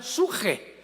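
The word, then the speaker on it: ψυχή: Pedro, de Samuel, psuche, que en el hebreo se pronuncia suje, porque la CH se pronuncia en hebreo como J.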